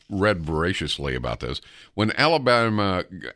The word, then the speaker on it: Alabama: voraciously about this when Alabama Alabama that's how you say it say it with me no alb an Alabama yeah there's no Ellen ba-ba-bam Alabama when alabama Governor George